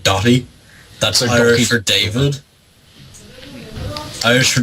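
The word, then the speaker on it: Daithí: People just call my first name or like No, it's not. Doy as in like D O T I E. That's not how it's spelled, but it's pronounced like Doy.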